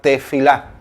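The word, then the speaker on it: תפילה: secreto esta palabra literalmente desde el hebreo se pronuncia tefilá y la palabra este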